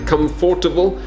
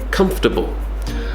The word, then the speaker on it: comfortable: I feel comfortable so the spelling looks like comfortable right comfortable but we don't say it like that we say comfortable I'm feeling comfortable when